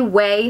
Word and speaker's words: Ouai: It's spelled funny, but it's pronounced Way.